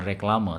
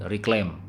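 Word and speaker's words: reclame: Nomor 10 ini bukan reklame tapi reclaim ya. Reclaim gitu, tapi karena pakai bahasa Belanda jadi tulisannya reclaim, reklame, tapi bacanya reclaim ya.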